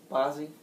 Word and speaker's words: Bazzi: I'll use the song Thunder by Imagine Dragons, the popular rock band, and newcomer Bazzi's new single Mine to demonstrate these points. Is that how you pronounce his name? Bazzi?